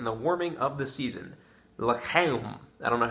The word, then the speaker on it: l'chaim: L'chaim. I don't know how to pronounce that in Hebrew. I know the CH sounds like you're clearing your throat, so l'chaim, I guess, is how you pronounce it.